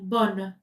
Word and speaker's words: bonne: OK, donc bon le féminin, je prononce le N. Bonne bonne.